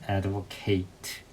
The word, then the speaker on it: advocate: 그래서 이 단어 advocate 하면은 발음이 옹호, 지지하다 동사가 되고요. 옹호자, 지지자 아니면 이제 변호사라는 뜻도 있는데 이 명사를 쓸 때는 발음이 advocate가 됩니다. 동사는 advocate, 명사는 advocate가 됩니다. 그것만 좀 조심하시면 될 것 같아요.